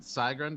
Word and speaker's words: Sigrun: Should I pronounce it Sigrund or Sigrund? I meant for it to be pronounced Sigrun, but you know what?